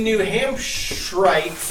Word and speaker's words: New Hampshirites: Well, and the New Hampshirites, I learned is the correct pronunciation.